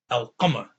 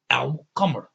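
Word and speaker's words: القمر: So because you have a moon letter, which is the Qaf, right, you're going to say Al with that sukoon on the top. You're going to stop by pronouncing the Al. Al-Qamar, Al-Qamar, okay?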